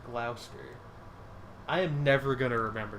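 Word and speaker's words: Gloucester: channel England is weird block a spear is pronounced Glouster I am never gonna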